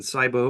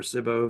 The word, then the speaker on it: SIBO: Okay, let me just explain how our program actually improves conditions like Lyme and Candida overgrowths and SIBO or SIBO, if that's how you like to pronounce it, and other opportunistic pathogens.